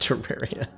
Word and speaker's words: Terraria: deep wand slash spelling system that's awesome it's pronounced Terraria when I afford Lantern seek oh I can